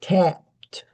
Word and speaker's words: tapped: Usually you don't hear the P very strongly, but you hear the T strongly. So you get tapped. Tapped. The P is there. Your lips are closing.